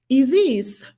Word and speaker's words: Isis: is sacred name isis spelled like isis pronounced ez's eziz it's it's very profound